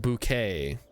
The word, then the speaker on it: bouquet: It's pronounced bouquet. It's bouquet. Don't bring your fancy French bucket into my house.